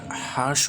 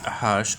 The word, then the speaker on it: hush: ইউ এস এইচ এটা হাঁস উচ্চারণ হবে যে এইচ ইউ এস এইচ হাঁস হাঁস হলো চুপ করা হাঁস চুপ করা